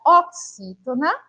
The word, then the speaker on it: oxítona: A gente fala X, como se fosse um C e um S, ó. Ox, não é? Oxítona.